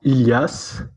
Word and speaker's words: Ilias: Yes, Are it's pronounced Ilias. Ilias? Yes, but I mean, yeah, it's usually pronounced in French, but I think that's the correct way to say it in English.